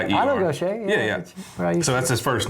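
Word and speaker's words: Gautier: Oh, I'm sure it's pronounced Gocha. Really? Yeah. G A U T I E. I know Gocha. So that's his first name. Gocha.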